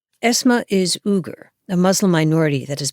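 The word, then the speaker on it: Uyghur: very basic thing Google uger or you may have heard it pronounced weager esma is uger a Muslim minority that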